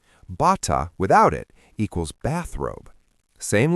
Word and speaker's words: bata: In Tagalog, the glottal stop can completely change the meaning of a word. Bata, with a glottal stop at the end, equals child. Bata, without it, equals bathrobe.